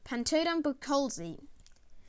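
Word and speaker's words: Pantodon buchholzi: butterfly fish scientific name pantadon patrolse pronunciation pantodan bukholzi size to around 12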